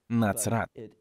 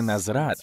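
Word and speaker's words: נצרת: Є буква «цаді». Вона вимовляється як «ци», «ци», «ци», «нацрат». Так на івриті звучить «назарет», «нацрат». Це не «назрат», а «ци», «нацрат».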